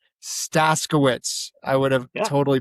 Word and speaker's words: Staszkiewicz: Chuck Staskiewicz. Staskiewicz. I would have totally butchered that.